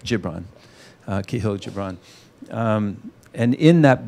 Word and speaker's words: Gibran: I think it's a soft G, Gibran, I think. Gibran.